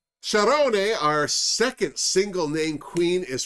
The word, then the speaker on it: Sharone: She pronounces her name as it's spelled, Sharone, but she has answered to the odd Spaniard who calls her Charo.